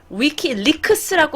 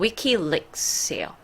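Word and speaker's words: WikiLeaks: 그래서 위키리크스라고 한국분들은 부르시는데 실제로는 위키릭스예요. 위키릭스.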